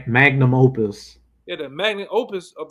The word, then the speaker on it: magnum opus: Oh, how you say it? Magnus Opus. Yeah, magnum opus.